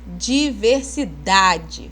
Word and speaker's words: diversidade: Vocês falam diversidade. Olha o dá aí com força. Não tem acento essa palavra, mas a gente pronunciando ela corretamente, a gente vai saber que a sílaba tônica é o dá, tá?